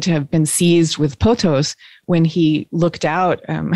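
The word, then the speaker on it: pothos: uh word in ancient greece and i'm probably mispronouncing it maybe you know but it's potos p-o-t-h-o-s which basically was a way of expressing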